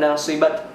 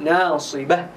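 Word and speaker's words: ناصبة: Ketika waqaf jadi dibacanya menjadi huruf ha, ya, bukan nasibat tapi menjadi nasibah.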